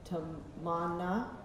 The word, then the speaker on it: Tamanna: Tamanna, okay, good.